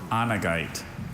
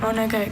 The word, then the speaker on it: onegite: Onegite or onagite.